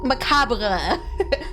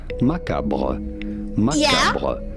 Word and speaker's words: macabre: American English in French in France this word is pronounced as macaboah the British English pronunciation is similar to the French one in the way that they say Macabre Macabre with an emphasis on the second syllable American pronunciation however what's